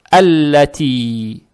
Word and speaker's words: الَّتِي: Теперь фатха произносится мягко, как есть А. Далее стоит буква Лам. Она же удваивается. Здесь фатха приобретает оттенок Я. Лам читается мягко, то есть Алла. Алла. Далее стоит буква Та мягкая. С касрой. Касру тянем за счет буквы Я без огласовок. Тянем два раза. Это мад табиий. Получается Аллати. Далее Лам.